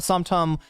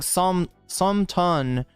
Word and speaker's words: som tam: So you're saying some ton, how is it actually pronounced though?